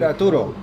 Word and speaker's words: Ertuğrul: Okay, so by now you guys know we're talking about how do you pronounce the series that you started? Diriliş, Ertuğrul. Diriliş, Ertuğrul. Ertuğrul.